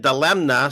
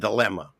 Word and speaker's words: dilemma: to spell dilemma and I remember pronouncing it dilemna so I wouldn't misspell it in school but what was the point there is no n and dilemma so the idea that